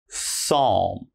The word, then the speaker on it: psalm: We start with pneumonia, psalm, psychology, psychiatrist, psychic, and psycho. So, all right, if you ever see these words in something you're reading, just remember there's a silent P when the word begins with P and is followed by a consonant.